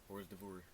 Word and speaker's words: hors d'oeuvre: Hors d'oeuvre.